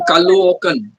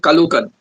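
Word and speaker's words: Caloocan: used to call it Kukan. That's how it's spelled. C A L O O C A N. Kukan. So I used to say Kukan.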